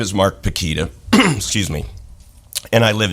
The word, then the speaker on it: Pukita: The last name is Pekita. It rhymes with the banana brand Chiquita, so Pekita, Chiquita.